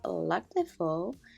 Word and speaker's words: Lac de Vaux: here with black alphabet, and it's French, and you pronounce it as Lac de Vaux.